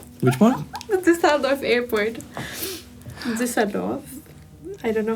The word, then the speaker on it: Düsseldorf: Düsseldorf.